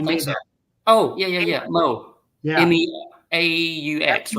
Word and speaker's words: Meaux: Mo. Yeah. MEAUX, right? MEAUX, but it's pronounced Mo. I call him Mo.